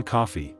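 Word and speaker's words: Coffey: and duck under doorways this is John coffee like the drink only not spelled the same and he has been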